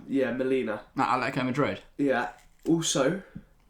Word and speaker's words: Molina: The Argentina right back, I can't pronounce his name. Molina? Yeah, Molina.